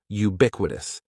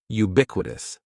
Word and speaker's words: ubiquitous: The first word is ubiquitous, and ubiquitous has 4 syllables. That first syllable is just like you're saying the letter U. Ubiquitous, and the stress is going to be on that second syllable. Ubiquitous, ubiquitous.